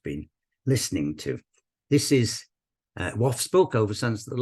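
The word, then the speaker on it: Waugh: dialect poet Edwin W and I understand it's pronounced WF not war he wrote kwam to the children and me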